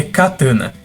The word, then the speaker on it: catana: Na verdade, a pronúncia certa em português é katana, escrita com C, pois a palavra faz parte do dicionário português.